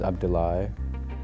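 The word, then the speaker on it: Abdulah: My name is Abdulai. It's spelled AB D U L A H.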